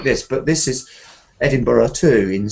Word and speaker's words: Edinburgh: about Edinburgh is that it looks like Berg the burgers but the pronunciation is the same as burra so um sometimes we